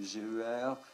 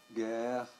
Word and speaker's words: GER: groupe de recherche euh nous sommes très très souples he sur la façon d'en prononcer le le nom c'est ger guerre euh gère euh ça signifie Guer